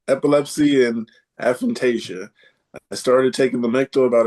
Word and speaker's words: aphantasia: So, one here says epilepsy and aphantasia.